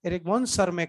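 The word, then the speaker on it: Erich von Tschermak: T silent, एरिक वॉन सरमैक नाम बोलते हैं।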